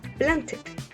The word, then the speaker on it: planted: Dice, todos los verbos terminados en sonido T y en sonido D, la ed va a sonar como una ed, como está escrito. Esa es la única excepción, cuando terminen en T y en D. Como en el caso de want, termina en T, need, termina en D, y paint, termina en T. Recuerden que uno de los ejemplos anteriores era plant, por eso yo decía planted, termina en T. Entonces las terminaciones de la